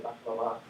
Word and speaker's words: baklava: with recognizing correctly that a word with finally stressed syllable like baklava, if you say baklava, it should be correct, but if you say baklava or baklava, that should be wrong.